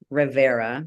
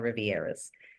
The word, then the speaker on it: Rivera: It's Rivera, and that's spelled river with an A at the end. I get a lot of Rivieras.